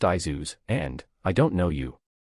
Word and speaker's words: Jesus: Jesus. It's pronounced Izuz, and, I don't know you.